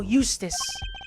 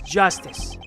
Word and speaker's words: Justice: District Court defendant Lobby number too Apollo Eustace that's Justice better learn how to say it if you ever want